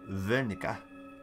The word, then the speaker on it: Wernicke: Wernicke, assume it's pronounced with a V because he's Deutsch.